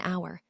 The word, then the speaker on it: hour: So we say an hour, an honest boy, or an heir, where the H isn't pronounced at all.